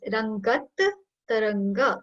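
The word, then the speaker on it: रङ्गत्तरङ्ग: So you'll have to put double pressure on double T over here. So it's Rangat Taranga.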